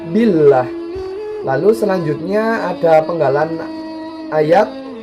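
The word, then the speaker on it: بالله: bacaan dulu perfect ya karena ada lafadz Allah yang didahului oleh huruf kasrah jadi membacanya itu tipis Billah listrik Billah lalu selanjutnya ada penggalan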